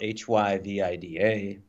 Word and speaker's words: HyVida: So Hy Vida. So it rolls off. It's 3 syllables.